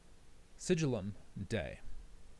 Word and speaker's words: Sigillum Dei: Sigillum Dei which is spelled s i g i l l u m.